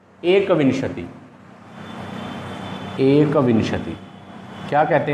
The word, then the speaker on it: एकविंशति: एकविंशति। एकविंशति क्या कहते हैं? एकविंशति। कुछ बच्चे इसको विशंति कहते हैं, इसका जो उच्चारण करते हैं वो गलत करते हैं, विशंति बोलते हैं।